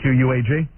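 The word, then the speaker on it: Quogue: You spell it Q-U-A-G? That's Miss Spelling. Yeah, these guys screw me up every day. It's Q-U-O-G-U-E, isn't it? Yeah, that would be Quag.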